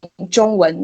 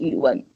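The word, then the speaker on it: 中文: you have to say you are learning joong-won not you one alright and what about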